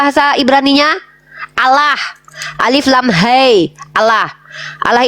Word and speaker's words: Allah: yang saya kenal itu adalah Allah ditafkim bacanya ditebalkan karena ada huruf lam lam Allah Allah Siapa itu